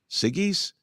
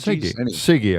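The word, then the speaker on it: Siggi's: or Sig's Dairy s how would you pronounce this s i GGI apostrophe s siggies Dairy Sig sigy I think yeah okay uh they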